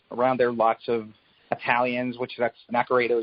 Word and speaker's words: Naccarato: I think it was a lot more sort of ethnic minorities around there, lots of Italians, Naccarato is an Italian name, though technically in the old country it's pronounced Naccarato.